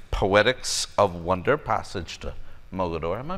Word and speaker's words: Mogador: We'll be chatting about his Poetics of Wonder, Passage to Mogador. Am I pronouncing that right? Yes, Mogador. Mogador.